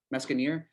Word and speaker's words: Meskienyar: Meskienyar.